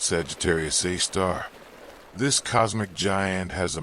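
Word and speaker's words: Sagittarius A*: A super massive black hole called Sagittarius Asterisk. Pronounced Sagittarius A star.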